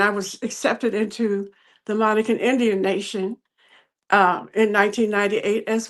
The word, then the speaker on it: Monacan: You said Monacan. Is that how you pronounce the tribe?